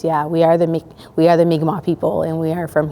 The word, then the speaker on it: Mi'kmaq: Mind you, a lot of the time they come in and pronounce our names wrong, but it's our duty, myself and my staff, to nonchalantly introduce them and Mi'kmaq people as Mi'kmaq. If they refer to us as Micmac, it's we are the